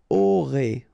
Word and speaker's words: aurez: Vous aurez. All right, O, and then EZ at the end will give you this E sound.